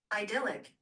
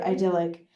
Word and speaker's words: idyllic: Idyllic. Okay, so I said idllic. I thought it was like idealic, you know, like ideal.